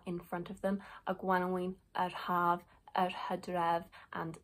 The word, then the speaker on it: gwanwyn: So spring and Cymraeg is gwanwyn. Gwanwyn. Now, obviously, there are dialectal variations in how we pronounce our vowels. So gwanwyn, gwanwyn, gwanwyn. More properly, it should be a gwanwyn.